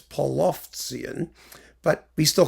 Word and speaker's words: Polovtsian: how they're spelled, especially in Cyrillic, and it's Polovtsian, but we still call them the Polovetzian dances because it's easier to pronounce.